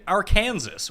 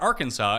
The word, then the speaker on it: Arkansas: right new mexico state is the 12th seed arkansas or arkansas as others tend to pronounce it are a four seed arkansas you